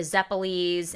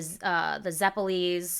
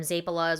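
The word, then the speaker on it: zeppole: Like I said, the zeppelis in my family we call them zapalas. We've been mispronouncing it literally since we got off the boat.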